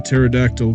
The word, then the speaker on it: pterodactyl: Dad, why can't you hear a pterodactyl go to the bathroom? Because the P is silent.